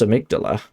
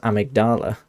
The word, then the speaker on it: amygdala: but because it's weird because the game pronounces it amygdala i was saying in the last stream that obviously it's pronounced amygdala by us by most people but in the game patches refers to amick amygdala as amigdala yeah so so patch